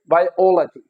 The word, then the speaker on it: biology: But when your words end at g, at and o, so again जो हमारा जो stress होता है that comes at antepenultimate, antepenultimate syllable, किस पे आएगा, थर्ड लास्ट syllable पे।